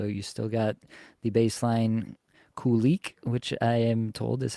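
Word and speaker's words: Kulich: unchanged here so you still got the Baseline Kik which I am told is how it's pronounced Yuri Kik alongside uh petka and Thompson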